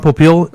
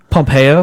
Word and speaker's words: Pompeo: Ron Popeil is replacing him? Pompeo.